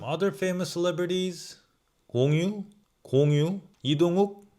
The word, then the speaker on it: 이동욱: 이동욱 is just 욱. Not 우.